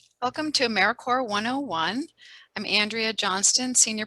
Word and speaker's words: AmeriCorps: all across america and it is pronounced americorps not americorps so what does americorps